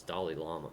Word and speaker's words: Dalai Lama: don't like drama dolly dolly llama is all right it's like Dolly Parton it's Dalai Lama Dalai Lama yeah do